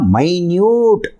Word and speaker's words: minute: இதை வந்து டிஃப்ரெண்ட்டாக ப்ரொனவுன்ஸ் பண்ணணும். எப்படின்னா மைன்யூட் அப்படின்ட்டு. அந்த ஸ்பெல்லிங் எழுதியிருக்கேன். MYNEWT, மைன்யூட் அப்படின்ட்டு. மைன்யூட் means very small R tiny.